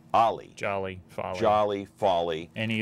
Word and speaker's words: Ahle: It kind of rhymes with Sally. Ahle, right? Ahle. Ahle.